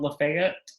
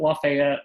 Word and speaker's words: Lafayette: It's called Lafayette, but most people would pronounce it Lafayette.